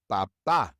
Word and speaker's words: papá: But in each of these words, we stress the last syllable, and so we have to write an accent mark above that last vowel. Canción, papá.